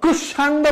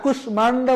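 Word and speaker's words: কুষ্মাণ্ড: নিজের মত উচ্চারিত হবে সেই জন্য কুশান্ড বলা যাবে না কুশমান্ড বলতে হবে তারপরে স্মিত বাঙময় গুলমো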